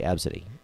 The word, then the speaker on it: Abcde: them but looking at the way it's spelled ABCDE I wouldn't have known to say AB City no you imagine you